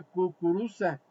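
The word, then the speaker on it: кукуруза: La palabra maíz en ruso se pronuncia kukuruza, pero los judíos, hermanos, que habitaban en Rusia no la podía pronunciar correctamente, alabado sea el nombre del Señor.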